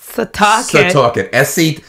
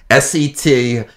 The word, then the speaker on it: Setauket: Now, how do you pronounce the target? Setauket. S-E-T-A-U-K-E-T.